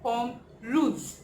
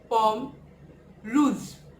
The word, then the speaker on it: pomme rouge: So we pronounce it in French, pomme rouge, pomme rouge.